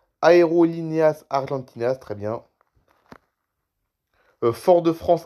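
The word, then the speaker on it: Aerolíneas Argentinas: Aeroline 1 comment ça se prononce ? Aérolineas Argentinas très bien.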